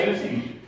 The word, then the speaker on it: synesthesia: Don't worry about it, just say it with me, synesthesia. That's your whole rhythm, because there's so many syllables. It's synesthesia, right? So you got all them syllables, you got to Millie Rock the syllables out of that thing.